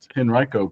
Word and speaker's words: Henrico: Yeah, it's pronounced Henriiko County and it's we're real sensitive about that here.